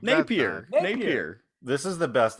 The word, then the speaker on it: Napier: you pronounce it yeah jack napier napier not napier napier napier you're saying it like napier like he's french like napier napier yeah it's not nate pierre what the hell you